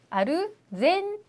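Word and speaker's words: アルゼンチン: 아니라 토르코 하고요 그다음에 아르헨티나는 나라는 아르헨티나가 아니라 일본어로는 아르 아르젠 이이라고 합니다 그래서 아르젠 토르코 이런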